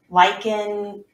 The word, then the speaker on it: lichen: organism is called a lichen lichen rhyming with like going hiking and our friend who